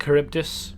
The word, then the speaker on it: Charybdis: this quite this appearance before this is apparently charybdis that's the connect correct pronunciation you can explode the crate to get